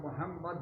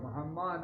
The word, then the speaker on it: محمد: ان محمد، استغفر اللہ، نبی کا نام محمد ہے، محمد نہیں ہے۔ اشہد ان کا معنی یہ ہوتا ہے میں گواہی دیتا ہوں ہم محمد ہیں، ہم اللہ کے